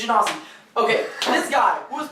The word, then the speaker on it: genasi: Because Minotaur was like, it's actually pronounced Ganassi.